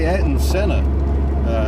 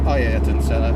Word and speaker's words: Ayrton Senna: The other Mk1 is an automatic development car, famously driven by Ayrton Senna, or Ayrton Senna, depending on your pronunciation.